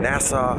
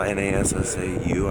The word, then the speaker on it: Nassau: Now the sun is rising behind us here in Nassau. I believe that's how you say it. Nassau, N-A-S-S-A-U, I believe, something like that.